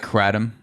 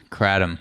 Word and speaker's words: kratom: on me i mean you got two syllables the the second syllable is definitely tom you know adam so